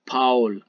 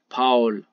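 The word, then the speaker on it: Paul: اگر آ و او چیر پشتا بیاین اشی تلفظ بیتیم آو آو نه؟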